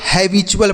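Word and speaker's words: habitual: टी यू ए एल को हमने क्या बताया? चुल। तो इसे पढ़ेंगे हैबचुअल। क्या पढ़ेंगे बच्चों? हैबचुअल। ये देखिए ऐसे पढ़ा जाएगा। बिल्कुल सही उच्चारण है बच्चों। इसे हम हैबचुअल पढ़ेंगे।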